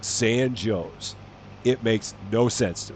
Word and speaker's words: San Jose: exact same spelling but it's not pronounced San Jose for whatever reason it is pronounced San Joe's it makes no sense